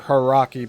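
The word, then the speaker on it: Hauraki: Puara South Road stretches for a mile across a gravel surface on the Harari Plains or Haraki Plains. That's spelled H A U R A KI.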